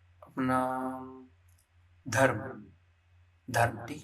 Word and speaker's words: धर्म: ठीक है, जब भी ये रेफ आता है, ठीक है, मतलब यहाँ पर क्या हो रहा है कि जो व्यंजन है ध, ठीक है, तो इस रेफ का प्रोनाउंसिएशन जो उच्चारण है वो हम कहाँ करेंगे, ध में करेंगे। ठीक है, ध के जस्ट आगे करेंगे, म पे नहीं करेंगे।